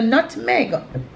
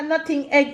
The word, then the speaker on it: nutmeg: The word is just as small as the thing is in a nutmeg. You don't know what a nutting egg is.